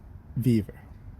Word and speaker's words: Vevor: I think a couple people online call it Vevor, like a beaver.